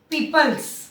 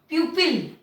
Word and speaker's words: people: तो आपको ध्यान देना है कि हम इसको बोलेंगे पीपल। ये जो ओ है इट is silent, O silent है, सो वी विल नॉट से पीपल और प्यूपिल, हम बोलेंगे पीपल।